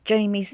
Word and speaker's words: Jayme: and i showed you jamie's name on screen i'm sure you would know that her name is pronounced jamie wouldn't you i'm sorry